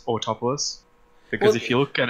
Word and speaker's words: Autopolis: Polis, because I had decided that it was Autopolis. That's how you say it.